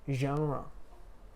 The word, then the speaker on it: genre: you say thoroughly cool next two ones are genre genre so if you read that word you would say january wouldn't you january it's just only natural that's it's written jerry but you say genre so if you again if you only read